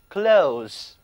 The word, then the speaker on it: clothes: 里的字母 o 读作 o， clothes， clothes，服装，还可以指